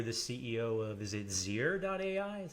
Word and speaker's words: Zeer.ai: I mean, now you're the CEO of, is it Zeer.ai? Is how you pronounce it? That's right. Zeer.ai.